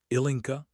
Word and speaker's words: Ilinka: Ilinka? He said it correctly, the stress on the first syllable, the C soft.